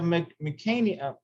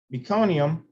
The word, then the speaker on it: meconium: muconium which is fetal stool the presence of mecanium nucania oh i can't pronounce that now meconium can indicate newborn distress and it is possible